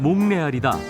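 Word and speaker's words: Montréal: 몬트리올의 프랑스어 발음은 몽레알이다.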